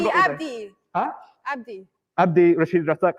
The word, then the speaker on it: Abdi: it's a very different pronunciation, which tells me he ain't someone. Can you Wait, hurry up? Have a Abdi, go Abdi.